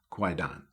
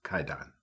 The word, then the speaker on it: Kwaidan: masterpiece of supernatural horror quite done or actually you should be pronounced KY done this movie was directed